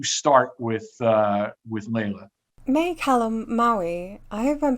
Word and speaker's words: Calamawy: May Calamawy, I hope I'm pronouncing that right. I think I know it's like calamari, but like with a W so...